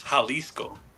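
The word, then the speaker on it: Jalisco: So So that one you say it with you pronounce it with an H. It's Haliscoco.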